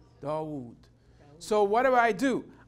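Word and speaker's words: داود: wrote the zaboor David how do I pronounce David in Arabic DeVoe Dawood so what do I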